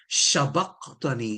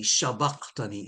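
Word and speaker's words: شبقتني: they pronounce sabaqtani as shabaqtani, shabaqtani. Sheen, they turn the S into sheen, and there's a very good reason for that.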